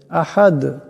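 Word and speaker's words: أَحَد: না বেলা পড়তে হবে আহাদ এখানেও দাল সাকিন হয়ে যাবে আওয়াতে ঝটকা হবে আহাদ এমন করে আপনারা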